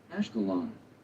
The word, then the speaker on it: Ashkelon: How does one pronounce that? Ashkelon, city in Israel. Okay. Never heard of Ashkelon, believe it or not. Ashkelon.